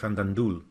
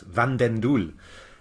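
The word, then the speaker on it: van den Doel: against Dutch Grand Master Eric random duel and I pronounced that wrong my goodness van den Dooley and it's I got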